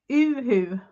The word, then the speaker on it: UHU: The funny thing about it, Jen, is it's called and it's called uhu because u is pronounced u in Swedish. So it sounds a little bit different.